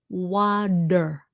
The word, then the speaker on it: water: When a T normally when a T is in between two vowels, it's pronounced with a D sound like water.